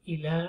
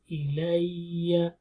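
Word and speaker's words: إِلَيَّ: Uhiya, qul uhiya ilayya, la muddiya shadda, ilayya, it's not ila, or something like that, is ilayya, annahus.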